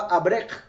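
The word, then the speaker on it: אברך: Y se pronunciaba abrech.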